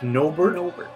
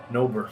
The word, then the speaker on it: Nobert: We've been saying it wrong. Apparently we can't read it. So apologies to the team. Hey, listen, I freeze water for a living. So it's Nobert. Nobert.